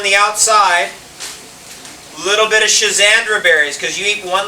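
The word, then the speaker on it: schizandra: my God you spell it's spelled differently s c h i z a n d r a is one spelling you'll find it if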